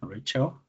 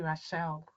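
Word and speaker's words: Rachelle: just share your screen Rachel okay all right so good evening yes good evening Rachel yes so my name is actually rashelle I pronounce it as relle okay all right I'm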